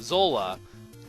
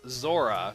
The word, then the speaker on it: Zola: Also, that thing in the water is called a Zola. Probably a mixed pronunciation on the English side as Zora, because L's and R's are pretty much similar, or are the same in Japanese.